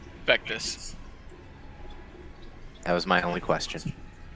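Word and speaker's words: Vectis: Well, Like how do you someone- pronounce this guy's name? Vectus.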